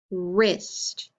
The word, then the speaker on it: wrist: me rap wrist rin what sound do you hear at the beginning that er sound that's right look at these words and tell me what letters you think make that er sound that's right we